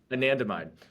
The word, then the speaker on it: anandamide: anatom how do you say it I'm sorry anandamide anandamide um I don't think they looked at anandamide